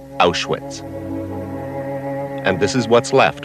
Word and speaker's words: Auschwitz: crossroads of Europe in German the town is pronounced ash wits and this is what's left of the biggest